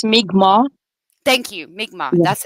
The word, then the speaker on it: Mi'kmaq: I know it's not pronounced Micmac, and they get really mad when you say it like that, so I do apologize about that. It's Mi'kmaq.